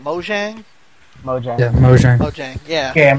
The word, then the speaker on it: Mojang: They have mentioned that they want to get Minecraft on here, and the thing is that how do you pronounce the developer's name? Mojang.